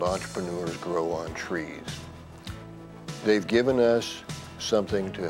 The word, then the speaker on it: TRIZ: of inventive problem solving t r i z a Russian acronym pronounced as trees within that theory there